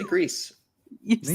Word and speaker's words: Gris: They said, for people that wonder, Grease is pronounced Grease, Grease, and means gray in Spanish, French, and Catalan or Catalan. So see, but to me, it sounds better as Gree.